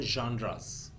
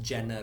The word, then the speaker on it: genre: But obviously, because this is written in English, so you can say it as genre or genres. But the correct pronunciation would be genre.